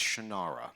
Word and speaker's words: Shannara: of The Shannara series he pronounces it's different he's wrong it's shinara it's finitely how it's